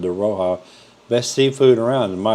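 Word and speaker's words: De Rocca: I've always said De Roca, and somebody told me the other day it's called De Roja.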